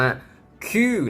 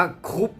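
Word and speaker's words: coup: 2 1 เฉลย นะ คำ นี้ อ่าน ว่า คือ นั่น เอง ค่ะ ไม่ ได้ อ่าน ว่า คุก นะ คะ แค่ ถาม ว่า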